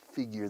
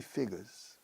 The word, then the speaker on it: figure: I can't figure this out. Figure. Pero figures son cifras. Numbers, figures. The British say figures. Figures. Very, very different. This is quite different between American English and British English.